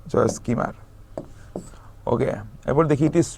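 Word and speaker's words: Joyce Kilmer: হ্যাঁ, এলটা উচ্চারণ হয় না, জয়েস কিমার।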